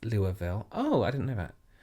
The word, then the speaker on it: Louisville: i live in louisville pronounced louisville oh i didn't know that kentucky and i'm